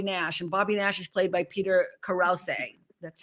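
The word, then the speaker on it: Krause: Bobby Nash is played by Peter Karouse. That's how you say his name. It's not Krauss, but he's from Parenthood from Six Feet Under.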